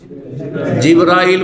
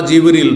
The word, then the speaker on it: জিব্রাইল: যাদের নাম জানি ফেরেশতা ফেরেশতাদের প্রধান জিব্রাইল বা জিবরল দুইভাবে উচ্চারণ করা যেতে পারে।